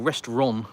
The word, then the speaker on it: restaurant: looks to an Englishman it's restaurant or restaurant there's no t at the end but restaurant that's what